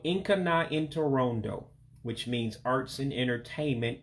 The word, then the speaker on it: Nka na Ntorondo: But again, we're studying the topic, arts and entertainment, which again is pronounced in Igbo as Nka na Ntorondo.